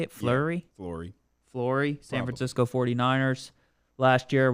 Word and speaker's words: Fleury: Yeah, Fleury, San Francisco 49ers.